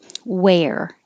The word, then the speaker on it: where: going to wear same where the vowel is air were the vowel is er really not any vowel you're just putting your tongue in the r position and making er were